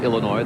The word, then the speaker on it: Illinois: Excuse me, that's Illinois. The S is silent.